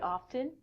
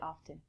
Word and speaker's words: often: i'm inclined to say often it's your choice from this lesson if you want to say often the t is silent that's perfect so when